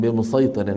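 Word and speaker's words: بمصيطر: أما الكلمة الرابعة والأخيرة فهي قوله تعالى لست عليهم بمسيطر في الغاشية، تقرأ لحفص من طريق الشاطبية بالصاد فقط.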